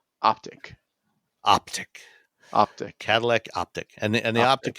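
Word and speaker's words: Optiq: Say it along with everyone. Optic.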